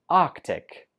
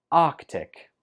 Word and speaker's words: Arctic: And last one, number 25, we pronounce this Arctic. Arctic. Just 2 syllables. Arctic.